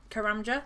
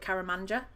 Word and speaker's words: Karamja: Karamja, that's it. Karamja. I always used to call that wrong. I used to call it Karamanja.